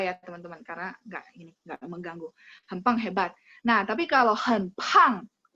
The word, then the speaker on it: 很棒: 很棒, dia kan pakai B ya, 很棒, tapi bacanya kan P. 很棒itu artinya excellent, hebat ya. Oke, kecoret nggak apa-apa ya teman-teman, karena nggak mengganggu. 很棒 hebat.